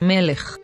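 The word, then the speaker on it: מלך: see the nikon vowel signs in the word melech note that there is an iquid sign for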